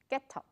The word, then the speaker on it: ghetto: 不发音的，但是这里的 GH 是只有 H 不发音，G 还是要念出来，叫 ghetto。 ghetto。